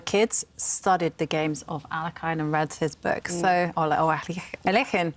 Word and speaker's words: Alekhine: And so much fun to listen to your stories about Alekhine, or Alekhine, which I guess is the right pronunciation in Russian.